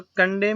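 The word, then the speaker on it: condemn: और कंडेम में भी एन साइलेंट होता है।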